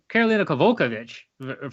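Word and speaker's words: Karolina Kowalkiewicz: But in terms of Karolina Kovalevich, first of all, is how you say her name.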